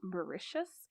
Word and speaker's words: Mauritius: trip to I and Wikipedia tells me it's pronounced Mauritius which is an island nation in the notion